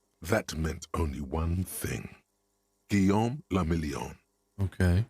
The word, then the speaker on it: Guillaume la Million: Guillaume la Million. Okay. If it doesn't rhyme, you're not pronouncing it right.